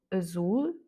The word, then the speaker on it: azul: Et en tout cas, dès que vous voyez un mot avec la lettre L à la fin, c'est sûr que l'accent tonique se fait sur la dernière voyelle. On a par exemple azul, casal, farol, papel, carnaval, municipal.